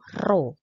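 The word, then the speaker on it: ρ: seperti Huruf Pein teman-temannya ini bacanya itu roh ini er kyangan P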